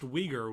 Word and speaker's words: Uyghur: I had to make sure because I didn't want to pronounce it Uyghur and be wrong, but that's what it looks like. But it's Uyghur. It's Uyghur.